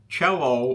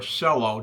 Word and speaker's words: cello: Uh, this is the cello or cello, depending on how you want to pronounce it, style canteen from Logden & Company.